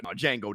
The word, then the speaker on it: Django: The Django Star, Django the D is silent.